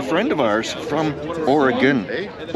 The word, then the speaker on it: Oregon: Oregon, well pronounced. Right? Oregon. Oregon. There we go. Not Oregon.